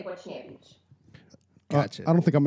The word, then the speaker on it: Boczniewicz: As Europeans, we pronounce it Boczniewicz because it is a Polish last name. But from what I understand, a lot of people pronounce it Boczniewicz, but we say Boczniewicz.